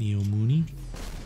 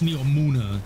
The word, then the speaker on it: Neomuna: Neomuni? Well, he says it. I mean, like, I shouldn't say shit, but like the way it's pronounced, it's Neomuna. Mooney, Muna.